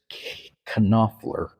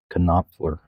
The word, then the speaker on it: Knopfler: the video that in in Germany they pronounce the K. It's K Knopfler. His name is spelled k n o p f l e r. Knopfler.